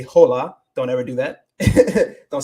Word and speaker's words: hola: So you don't say hola.